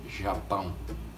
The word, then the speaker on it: Japão: How do you say Japan in Portuguese? It's Japão.